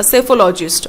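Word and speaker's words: psephologist: Okay, यहाँ पे P pronounce नहीं होता, सेफोलॉजिस्ट।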